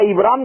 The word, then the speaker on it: ابرام: یہ رام، یہ ابرام، اس کا ابرام تلفظ ہے، ہبرو میں بھی ابرام